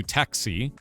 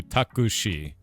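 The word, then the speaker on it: タクシー: So you guys do with us we do taxi as two syllables. You do takushi and she's uh she has like a drawn out eye.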